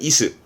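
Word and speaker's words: 椅子: 발음은 다 아시는 이스.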